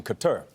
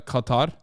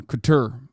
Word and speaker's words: Qatar: my favorite things is like listening to everybody pronounce uh Qatar okay that's a new one Couture I I had not heard that one before